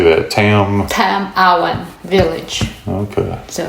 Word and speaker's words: Tam-awan Village: Tam-Awan Village.